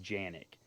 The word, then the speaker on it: Canik: fun fact for you kanik is actually pronounced Yannick I think I got that right maybe I didn't correct me if I'm wrong in the comments but I'm pretty sure it's pronounced Yannick really wanted to get